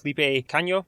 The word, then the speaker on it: Felipe Cagno: And we are excited to be joined today with Felipe Cagno. Wow, that's actually perfect. Nice pronunciation.